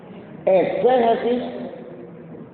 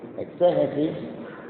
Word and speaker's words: exégesis: Exégesis se escribe con X. Exégesis, pero la palabra la voy a decir más despacio para que me la casten, ¿verdad? E se Jesús.